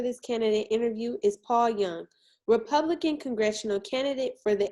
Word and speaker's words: Junge: my name is paul young i spell it j-u-n-g-e but i do pronounce it young uh i was born